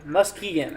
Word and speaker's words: Muskegon: four four five across portions here of um Muskie gun I think that's how you say that so your musk key again Muskegon okay I see you put a pronunciation here too so for you my friend